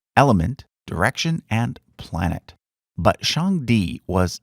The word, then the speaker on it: Shangdi: It's pronounced Shangdi and basically means highest god.